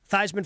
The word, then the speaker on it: Theismann: Theismann for Heisman. That's Yeah. supposedly why he had changed the pronunciation of his last name.